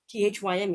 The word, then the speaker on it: thyme: I said to be corrected by others, but just note that it is pronounced the same as the word time, at least in my lifelong experience.